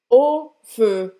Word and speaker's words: au feu: Então, vai lá, O é o som do O normal e feu faz a boca do O e fala aí. Au feu, au feu, au feu.